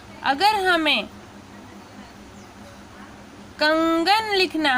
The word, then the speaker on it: कंगन: तो ये यहाँ पे म का साउंड है और यहाँ पे न का साउंड है, कंगन, ठीक है।